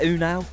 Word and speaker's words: Ünal: bab o now yeah they they say o now o now say his